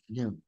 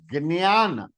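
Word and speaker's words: ज्ञान: Because it has a nasal sound because of the Anunasika, and because it is j along with Anunasika, the j is pronounced as g.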